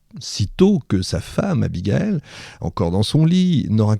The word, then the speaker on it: Abigail: J'ai dit Abigael, c'est Abigail, on prononce comme on veut parce que ce qu'il attend à Philadelphie n'est rien de moins qu'une réunion inédite.